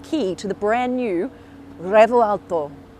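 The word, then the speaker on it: Revuelto: I've got the key to the brand new Revo Alto. That's kind of how you say it, but not really. You're meant to roll the R, but I can't roll R's.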